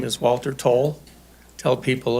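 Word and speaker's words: Towle: my name is Walter toll tell people it's spelled like a dyslexic towel t-o-w-l-e I work in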